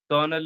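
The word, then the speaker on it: colonel: while if R is there so we slightly pronounce it besides besides this there are some French words that English has adopted like kernel is there it spelling is entirely opposite and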